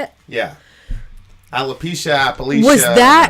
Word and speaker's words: alopecia: One is, so she has, you said Appalachia? Is that how you say it? Yeah. Alopecia, Appalachia.